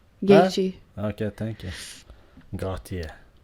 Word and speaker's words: Gaethje: Justin Gauthier. Gaethje.